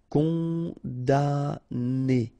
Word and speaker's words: condamné: Okay, so it's really strange because this M here, well, technically it's not pronounced. Condamné.